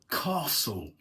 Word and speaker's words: castle: So the thing is that the the T there is not pronounced.